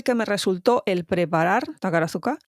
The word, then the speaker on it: Takarazuka: Esa U no suena, es Takarazuka.